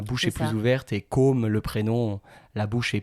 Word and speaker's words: Côme: Et la prononciation pas simple d'ailleurs entre Côme et Comme, si je veux dire comme Côme, c'est un peu c'est pas évident. On va dire que comme le like, c'est plus ouvert, la bouche est plus